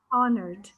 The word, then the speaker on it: honored: must unhonored to win honored the h is silent okay so here in